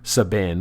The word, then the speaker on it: Sabin: And for non Final Fantasy nerds, look up video for Sabin, which is spelled like cabin but with an S, or perhaps Sabin if you prefer, Sabin suplex phantom train.